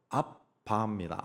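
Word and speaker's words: אבא: 아라 그랬 아 아버지 아라모 발음은 아바입니다 아빠 아빠 아빠 하니까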